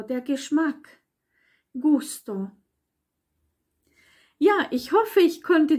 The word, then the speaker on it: gusto: noch eine Regel nämlich ein G das nicht vor einem E oder i steht sondern vor allem anderen nämlich wieder vor oder Konsonant wird wie ein G ausgesprochen nämlich wieder Städtchen Padenghe oder im Gegensatz zu juicester wo eben noch das E dazwischen war gay und e fehlt hier das i das heißt dann Gusto il gusto der Geschmack Gusto ja